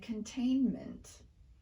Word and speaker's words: containment: in words like discernment internment and containment well there's a good answer for that the n in these words occurs in the stressed syllable we typically don't reduce a sound when it occurs in the stressed syllable of a word so there are lots